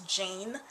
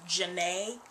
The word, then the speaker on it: Janae: I thought that my middle name was Jane, and in reality my middle name is Janae.